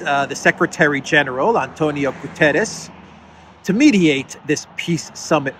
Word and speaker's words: Guterres: to a certain country I always say Gutierrez but it's Antonio Gutierrez is the correct uh pronunciation of the U.N